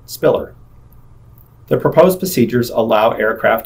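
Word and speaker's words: SPILR: limited to five letters the departure identified with the letters s p i l R is pronounced Spiller the proposed procedures allow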